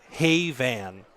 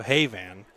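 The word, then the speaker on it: Hayvin: gamer boy in quotes phonetically hey van thank you so hey van Haven Haven hey van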